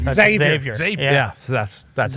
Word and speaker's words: Xavier: That's Xavier.